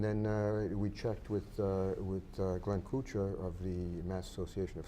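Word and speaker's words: Koocher: Not Kuchar as we would know it here in Fall River, the French Kuchar. It's spelled K-O-O-C-H-E-R.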